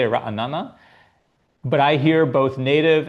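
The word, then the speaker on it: Ra'anana: Ranana, one syllable less. What is the correct pronunciation? Uh, yeah. You know, I never really thought about this until you brought it up, Stephen. Um, I say ranana, but I hear both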